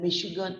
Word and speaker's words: Michigan: is the letter ch the letter c h in chicago and michigan are pronounced like shop sure but we don't say